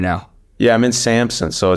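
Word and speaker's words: Samsun: this year I'm playing in a town called Samson Samson is how you pronounce it awesome give us your professional athletic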